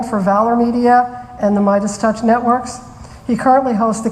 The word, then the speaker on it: Midas Touch: and I forgot to ask him how to pronounce the network. Oh, Midas Touch Network. It is Midas Touch, okay.